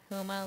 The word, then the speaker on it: Houma: So if you really want to do some people watching, Houma, however you would pronounce that. we'll have to track them down and tag them. Houma. Yeah. Homa? Houma, Louisiana.